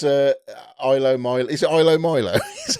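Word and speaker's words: ilomilo: anyway so it's uh ILO Milo is it ILO Milo is how you say it NDA oh picking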